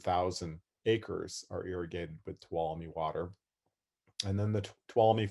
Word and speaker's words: Tuolumne: name tuolumne starts and kind of hard for some people to pronounce it so what we teach the kids is to say twala me to all of you and so that's a nice way to remember our our river's name and then from tuolumne